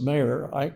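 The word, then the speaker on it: Meagher: We know that the leader of the Young Ireland group, Thomas Maher, it's pronounced it's spelled meager kind of, but pronounced Maher.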